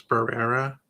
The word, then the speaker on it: Barrera: It may sound like I'm mispronouncing her name. I know it's Barrera, but like I have